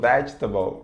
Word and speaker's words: vegetable: Certo, se você falou vegetable, beleza, tá certo.